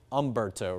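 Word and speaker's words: Humberto: There's an H in front of it, but the H is kind of silent.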